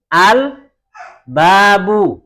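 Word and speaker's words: الباب: Tapi perhatikan, kalau huruf-huruf qamariyah, seperti contohnya yang pertama adalah hamzah, cara membacanya lamnya disukun atau lamnya dibaca dengan al-abu, al-babu, begitu ya.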